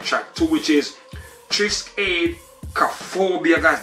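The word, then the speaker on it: Triskaidekaphobia: I like track two, which is Trisk Aid Cophobia, guys. That one right there took me a while to pronounce, but I got it locked. So I'm saying Trisk Aid Cophobia, track two.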